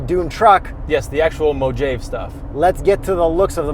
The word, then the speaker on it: Mojave: Anyways, the logo Mojave that pops, or how is it pronounced? Mojave.